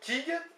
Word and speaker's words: kig: Viande, kig, K-I-G.